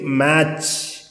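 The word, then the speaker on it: match: അപ്പോൾ സി എ ടി സി എച്ച് ഒ ക്യാച്ച്, എം എ ടി സി എച്ച് മാച്ച്. പക്ഷെ ഇവിടെ ടി ഉച്ചാരണം ഇല്ല, വാച്ച്, ക്യാച്ച്, മാച്ച്.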